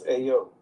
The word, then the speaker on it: Ayo: Ayo, that's Ayo. Okay, That's how you pronounce it.